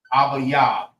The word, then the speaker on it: Abib: is Abayab. Abayab. That's how you say Abib in the Hebrew.